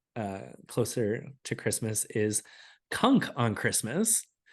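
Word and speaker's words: Cunk: give a watch uh closer to Christmas is Kunk on Christmas h on Christmas started watching that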